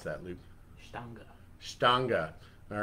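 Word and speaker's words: Stange: How do you pronounce that, Luke? Stanga.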